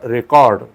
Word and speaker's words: record: He made a record, that is noun, and record this music. Okay, so this is how we have to use two different pronunciations for the word record, RECORD, as a noun and verb.